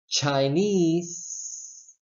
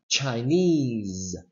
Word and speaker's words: Chinese: incorrect it will sound so if you say Chinese that is incorrect you have to say Chinese Chinese of course you know